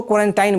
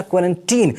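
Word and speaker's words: quarantine: देखिए बहुत सारे लोग इसको क्वारंटाइन बोलते हैं, क्वारंटाइन नहीं बोलना, क्वारंटीन, इसका एक्चुअल प्रोनाउंसिएशन होता है क्वारंटीन होता है।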